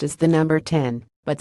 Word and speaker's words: X: manager Ryan Gish said everyone's been calling it the 10 I've called it the X a couple times but been corrected I know it's supposed